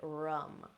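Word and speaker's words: ram: It's spelled R-A-M, but we pronounce it rum, rum.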